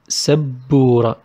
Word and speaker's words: سبورة: سبورة. I also stress on بو. سبو. Because I have سب then بورة.